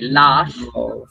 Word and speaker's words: laugh: Okay, laugh. love. This last H, Love. or GH, tienen el sonido de una F. That last GH, they has the sound of an F, and it's pronounced like F, and then you can pronounce it with T.